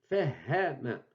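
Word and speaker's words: فهّم: Fahama. Donc, le ha, la 26e lettre de l'alphabet, elle est prononcée double deux fois, telle que dans la transcription que vous voyez en bas ici.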